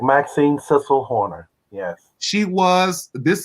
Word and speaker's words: Cissel: or am i saying it correctly correct maxine cecil horner yes she was this is she's the